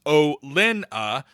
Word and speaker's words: Olenna: Olenna is pronounced O-Lin-A.